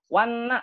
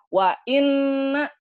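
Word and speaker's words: وإنّا: Wanna, betul atau salah tuh? Salah. Jadi maknanya jadi bukan sesungguhnya. Harusnya kan wa inna, tapi ketika hamzahnya dihilangkan, maka akan menyangka itu hamzah wasol.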